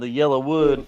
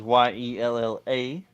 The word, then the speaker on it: Yellowwood: The Yellowwood 500, and that is YELLA. So I'm saying it right, Yellowwood.